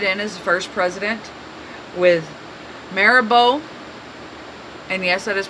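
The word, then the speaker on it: Mirabeau: Houston was voted in his first president with maribo and yes that is pronounced Tamara Bo you see it spelt it does not look like mayor Bo but it is pronounced maribo be Lamar it's a vice president stephen f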